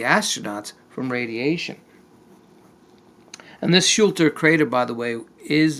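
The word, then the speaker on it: Schröter: Picture Schulter, that's how you pronounce it.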